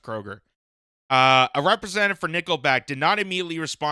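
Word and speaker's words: Kroeger: Uh, Michael Kroger then in a statement or do you say Krueger? I think I think it's pronounced Kroger.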